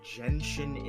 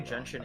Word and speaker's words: Genshin: because I was trying to figure out why Genshin Impact was trending, but it's just because I'm guessing they pronounced Genshin Impact weird.